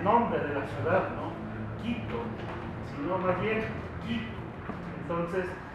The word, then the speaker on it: Quito: de Quito o desde quito entonces eh siempre me corregían no no se dice quitu se dice quito y le digo o sea es el nombre quichua quitu porque nosotros al menos